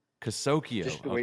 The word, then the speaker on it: Kasokeo: Kasokeo. Kasokeo. Just the way it's Okay. spelled. Yeah, just the way it's spelled.